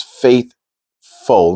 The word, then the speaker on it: faithful: So the second word is faithful. Now the full is not as in fool.